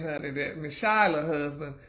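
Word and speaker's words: Chyler: Well, you know Jesse, honey, and you know Shyler, well, how do you pronounce it? Like Chrysler without the ER or whatever, Shyler Lee.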